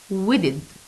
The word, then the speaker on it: wedded: So, wedded. Wedded. He's taking care of his plants, his flowers. So, wedded. Again, the words dusted, greeted, invited, planted, waited, wedded. So, the final ed here pronounced as id.